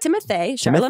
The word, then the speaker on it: Timothée Chalamet: Well, okay, I kind of have two, but this is going to come out after Timothée Chalamet. Okay. I'm rooting for him. okay. And how did you pronounce that? Timothée Chalamet.